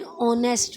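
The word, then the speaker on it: honest: जो silent H होता है, लाइक जिसका साउंड मैंने कहा ना वोवेल आए, जैसे एन ऑनेस्ट मैन, तो ओ का साउंड आ रहा है, ओ वोवेल है, वोवेल का साउंड आ रहा है तो एन लगेगा।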